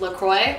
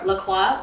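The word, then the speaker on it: LaCroix: do you say it I say laqua that's how I say isn't that how it's supposed to be cuz it's like a French name it's a French name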